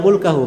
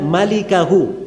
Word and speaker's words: malikahu: Itu bukan bacanya illa mulkahu. Memang mim lam kaf ha. Tapi bukan mulkahu bacanya. Bacanya illa malikahu.